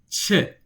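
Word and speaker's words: چ: So the way you say che is with your tongue. I want you to say she. Your tongue is probably resting on the floor of your mouth.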